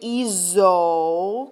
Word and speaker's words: hizo: Because if you don't, then you end up with H-I-C-O, which gets pronounced eco, that hard C, and that's not going to mix with all the other forms.